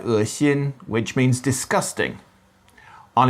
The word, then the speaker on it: 恶心: So It's spelt with an E in some contexts in Pinyin, and it's often pronounced as a diphthong, with the tongue moving towards the center. You find it in words like 恶心, which means disgusting.